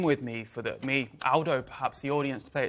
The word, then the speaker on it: Aldo: McGovern and somebody Chef Aldo zilli got it right this time he picked me up but it's Aldo not old Aldo's a very British pronunciation in Italian uh good to see